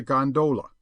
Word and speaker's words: gondola: known amongst the fraternity as a gondola with the second syllable emphasized and pronounced long but to return I